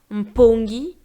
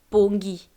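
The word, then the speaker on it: mpongi: a un pongi d'accord donc pour le M le M suivi d'un P le N suivi d'un k le N suivi d'un S et le N suivi d'un T en lingala courant on peut se passer de la première lettre uniquement si il commence un mot d'accord c'està direire s'il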